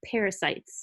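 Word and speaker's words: pericyte: smooth muscle there are they're called parasites and it's not spelled the same it's PE RI site c YT those are gonna be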